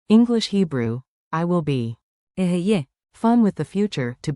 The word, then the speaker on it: אהיה: Aheye.